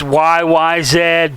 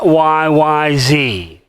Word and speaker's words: YYZ: one aren't we it's YYZ people not YYZ why because in Canada and Great Britain stuff they don't know what the the letter Z is they don't say Z they say Zed letter Z is not